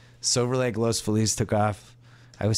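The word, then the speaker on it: Los Feliz: even since I've been here like Silver Lake Los fiz took off I would say Los fiz Los how do you say it Joe Los FES Los FES I just can't get it in my head I mispronounce everything uh East LA all of a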